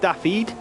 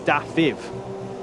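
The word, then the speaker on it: Dafydd: It looks like it's spelled David, and I will always probably go back to that. But I've been told by this man, Callum J. Spencer, that it's actually pronounced Dafiv in Welsh.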